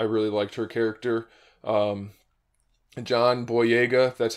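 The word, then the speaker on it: John Boyega: a lot I really liked her character um John boa that's how you pronounce his name he did a good job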